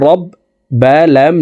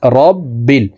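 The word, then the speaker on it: رَبِّ: লিল্লাহি আলহামদুলিল্লাহি রবা জবর রব বালাম জেরে বিল রব্বিল আমরা অনেকেই রাব্বিল পড়ে থাকি এখানে রকে রা বলা যাবে না র বলতে হবে র জবর রব বালামের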